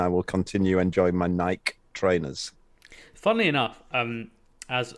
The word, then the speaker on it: Nike: the e and i will continue enjoying my nike trainers funnily enough um as an ancient greek scholar as i am or at least was in my university days the correct pronunciation is actually nikkair because that's the name of the goddess of